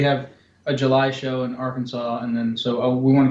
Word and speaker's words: Arkansas: Um because like you pronounce Kansas as Kansas and not Kansas, but you put an you put an ar in front of it and all of a sudden it's you know Arkansas, but it's our Kansas.